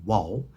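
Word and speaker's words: vav: here I write the original car of pronunciation of the volve it's not a V it's a w wall and that's cat Urbina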